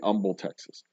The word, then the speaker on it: Humble: The H is silent in the city of Humble's name because the city's founder. Okay, so the location that is currently Humble, Texas, used to be.